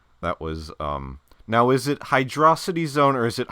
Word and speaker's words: Hydrocity: Imakuni would tell you that it rhymes with atrocity.